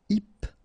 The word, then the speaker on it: hypnotique: Remember, at the end, Q-E, K, tic. So, H is not pronounced. Hypnotique.